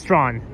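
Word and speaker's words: Strachan: So, don't forget it's not pronounced stretch, it's pronounced straw. Um the ch is a silent cuz Yeah, cuz um those those two those two letters ch is silent.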